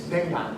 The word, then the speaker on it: dengan: In fact, it even has abbreviations like this is not pronounced, it's dengan, which means with.